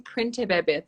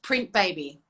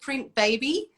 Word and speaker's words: Printebebe: going to call it print baby baby yeah printing companies kept coming up when i googled it right of course anyway i made it a bit tricky but it's pronounced print baby i love it and